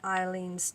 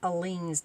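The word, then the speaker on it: Aleene's: Use some more of the Eileen's tacky glue. I guess it's Aleen's, not Eileen. It's spelt with an A.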